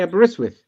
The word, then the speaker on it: Aberystwyth: Oh, you didn't know how to say Aberystwyth?